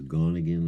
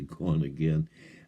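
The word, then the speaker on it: GonAgain: a i n so originally I thought it was gonan or some sort of weird name but it's actually gone again um he travels around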